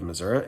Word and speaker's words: Missouri: I have left the state of Georgia back to my home state of Missouri, and yes, that is how it's pronounced.